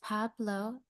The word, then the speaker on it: Pablo: for some so we're going to try to pronounce it together just in case his name is pabloo blow like just one more time Pablo Theo